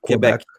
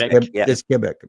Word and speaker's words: Quebec: It's not Quebec. No, it's Kebec.